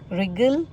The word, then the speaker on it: wriggle: वो ये है कि जब भी डब्ल्यू आर या एच से पहले होता है तो मैंने देखा है डब्ल्यू साइलेंट होता है।